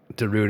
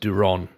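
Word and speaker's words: Durán: that's for for certain darun is pronounced Duron Duron yeah yeah know I get that but obviously you know what what we've done is is I pronounced it darun before and then and then did a a joke about Sandstone by Darude so I've sort of stuck with it I know it's wrong but I've sort of went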